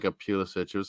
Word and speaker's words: Pulisic: Like Croatian sort of pronunciation. I think the English call it Pulisic.